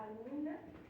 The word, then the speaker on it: albúmina: Principalmente es la albúmina. Pues la albúmina, tiene acento en la U.